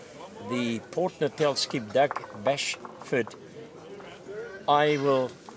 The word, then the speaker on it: Bashford: that's what the skips there for I said Bashford he's Bashford uh I must pronounce his surname properly uh but he has